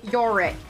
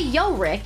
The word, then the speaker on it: Yorick: want anivia who's yorig Yorick I hate saying Yorick so it hurts my tongue and my mouth I'd rather say yo Rick not Yorick like my my tongue